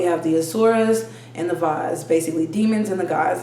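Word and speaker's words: devas: astrology and we have vas which are benevolent gods this pronoun um it's spelled d-e-v-a-s but it's uh pronounced device so we have the asuras and the vas basically demons and the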